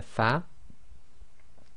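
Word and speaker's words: ف: we have the letter fa now when you pronounce the letter fa your Upper Front Teeth should touch the inner wet portion of your bottom lip so say far far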